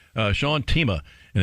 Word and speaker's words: Themea: all right uh sean tima and it's spelled t-h-e-m-e-a but pronounced teema of course he could